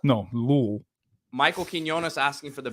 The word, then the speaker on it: Louisville: Now, this game against Louisville.